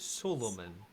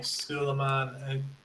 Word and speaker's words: Suleiman: I have an accent it is Suleiman sorry a lot of people call me Sulaiman Solomon I will try my best to pronounce its soul Oman forgive my rudeness